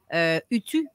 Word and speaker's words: Utu: Utu, je ne sais pas si c'est comme ça qu'on le prononce. Utu. Utu. Le U se prononce ou. Exact. OK. Utu.